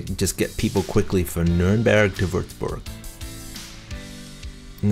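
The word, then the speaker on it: Nürnberg: And the Germans call it Nuremberg, but here on the map and on American pages it's always Nuremberg. I think it's just the American pronunciation, kind of like Cologne for Köln.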